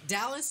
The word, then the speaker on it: Dallas: Dallas, like Texas.